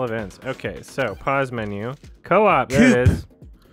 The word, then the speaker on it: Co-op: Co-op, there Coop. It is. It's pronounced Coop.